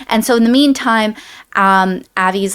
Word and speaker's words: Avi: Am I saying his name wrong? Ari? I believe it's Ari. Avi. No, Avi, you're right.